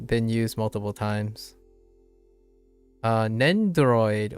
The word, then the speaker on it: Nendoroid: uh English is nendroid I don't even know if they pronounce the do like it's not nendoroid it's just nendroid I think think I